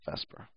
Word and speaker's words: VSEPR: yes I called it Vesper which sounds like it's Vesper but it's spelled vper whatever but it's always pronounced Vesper electrons are always in